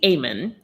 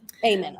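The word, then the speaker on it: Eamon: I say Amen. Amen. Okay. And that's based on the late Frank McCourt's pronunciation of it.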